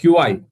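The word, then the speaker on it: qi: இதை நம்ம ப்ரொனவுன்ஸ் பண்றது சி, பட் எழுதணும் அப்படின்னா சைனீஸ்ல வந்து இட் இஸ் கியூஐ இல்லையா? கை அப்படின்னு சொல்லுவோம். கை அப்படின்பா சீனர்கள் வந்து கை அப்படின்பாங்க, நம்ம சி அப்படின்னு சொல்லி சொல்றோம். யூரோப்பியன்ஸுமே கை அப்படின்னு சொல்றாங்க.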